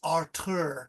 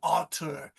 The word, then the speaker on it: Artur: in a German accent because Arthur with a th is the English, but in German it's Artur because my friend lives in a German country.